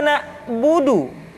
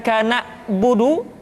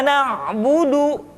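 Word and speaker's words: نعبد: Kemudian perhatikan ketika huruf Ain disukun, maka suara kita tidak boleh mati. Contoh, iyyaka na'budu, bukan kana budu, tetapi agak ditekan sedikit, kana budu, iyyaka na'budu. Itu pengucapan huruf Ain.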